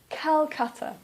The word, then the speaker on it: Calcutta: Or, for example, Calcutta. Please don't say Kolkata. Please say Calcutta.